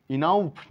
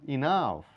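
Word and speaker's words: enough: নেই লিওপার্ড নয় লেফার্ড ও এর সাউন্ড নেই ইনাউফ না ইনাফ এখানে ও এর সাউন্ড নেই টাউফ না টাফ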